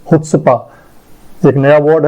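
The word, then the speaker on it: chutzpah: इसका प्रोनाउंसिएशन जो है वो है हुत्सपा। ये आप इसको ह पढ़ेंगे, हुत्सपा, हुत्सपा।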